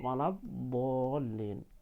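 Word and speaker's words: الضالين: Walab bo ya, bo, bukan walab. Pak udah pernah melihat anak-anak itu walab, walab, nggak ada huruf ba di situ ya, tidak ada huruf ba, adanya huruf bod. Pengucapan huruf bod bo, bo.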